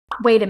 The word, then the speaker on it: wait a: Remember, the T sound in wait is pronounced as a D sound when you link the words wait with a.